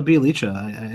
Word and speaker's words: Bielitsa: Rhymes with pizza. There's a squiggle on there. Bielitsa. He's like a pizza.